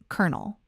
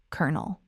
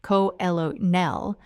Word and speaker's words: colonel: The word is kernel, C-O-L-O-N-E-L, kernel. Now, if you read that word and you thought it should sound like co-elo-nel, you are in very good company.